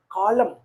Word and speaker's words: column: n is silent Ru if a word ends in MN n is silent a u t u